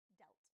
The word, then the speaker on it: dealt: Notice here how the past form of deal is dealt, which has a different pronunciation. So we're going from the sound E to the sound E. Yes, we have deal and dealt.